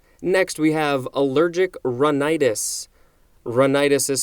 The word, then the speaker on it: rhinitis: what to avoid next we have allergic rhinitis run itis is spelled rh i n i t is this